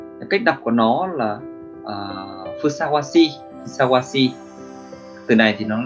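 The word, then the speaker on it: 相応しい: Cách đọc của nó là phusawasi, phusawasi.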